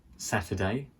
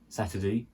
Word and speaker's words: Saturday: until Saturday until Saturday so the word Saturday has a few pronunciations Saturday is one Saturday is another one Saturday is another one and Saturday is another one so we've got four different ways there the difference is the guttle stop on the T so